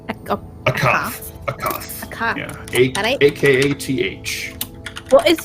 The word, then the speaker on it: Akath: Did you say his name was Acost? Akath.